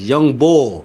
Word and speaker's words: young bull: Anybody outside of Philly always say young boy. It's young bull. Just say bull.